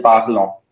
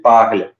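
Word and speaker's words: parlent: We do not say il, elle, parlant, right? It's only il, elle, parle.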